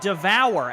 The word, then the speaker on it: D'Or: I figured it out we're pronouncing it wrong it's devour as in devour every play that comes